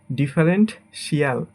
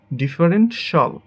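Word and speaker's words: differential: এটাকে আমরা বলি ডিফারেন্টশিয়াল, বাট এটা হবে ডিফারেন্টশল, ডিফারেন্টশল, ডিফারেন্টশল।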